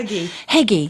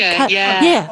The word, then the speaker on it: hygge: Heggy. Yeah, that's it. That kind of, and that's Hygge, like, hygge. How do you say it? How did you say it? Hygge. Hygge. It's like nougat with hygge.